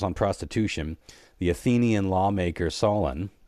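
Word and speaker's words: Solon: prostitution the Athenian lawmaker Solen or Solen to rhyme with colon uh regulated prices in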